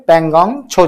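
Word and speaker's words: Pangong Tso: इसको वैसे बोलते हैं पेंगोंग छो झील, लेकिन इसको लिखते इस तरह से हैं पेंगोंग त्सो, है ना, झील। इसमें ये टी साइलेंट रहता है ना।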